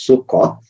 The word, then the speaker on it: Succoth: So when you look at the word Sukkot, it's pronounced as Succoth in English.